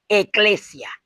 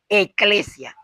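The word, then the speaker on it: ecclesia: iglesia viene de una palabra griega que se pronuncia eclesia, así, eclesia, y cuyo significado es grupo o asamblea, que es lo mismo, un grupo.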